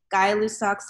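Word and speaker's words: Gay-Lussac: this one I know it looks like it says I'm gay but it's actually pronounced guy guy lussac's law and this law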